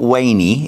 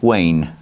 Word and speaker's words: Wayne: just correct you actually my name is not wayy it's Wayne Wayne yeah wayney sounds like a dog's name to me I know it's I know that's how you pronounce it in Brazil but uh I prefer Wayne okay perfect I'm going